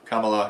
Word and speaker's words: Kamala: But it is Kamala Harris.